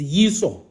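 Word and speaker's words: ܝܫܘܥ: But yes, in Aramaic, it's Yiso. That's it. Yiso, and Yesu was the closest thing, I guess, you see. Yesu was the closest thing to that Aramaic form.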